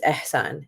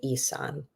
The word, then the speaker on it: Ihsan: kid and say, hey, your name has an H in the middle and it's pronounced. It's ihsan. It means integrity in Arabic. And correct people when they say Isan, or correct people when they call you Sonny, right?